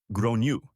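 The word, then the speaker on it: Gráinne: because I realized the child's name was actually grain pronounced roughly as Gru I tried to be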